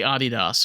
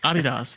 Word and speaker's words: Adidas: We mispronounce anything that's in German is mispronounced in the United States. Everything. You know, I say Adidas or like what the fuck is that? I'm like, Adidas.